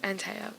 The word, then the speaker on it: Anthea: It's Antea. The H is silent.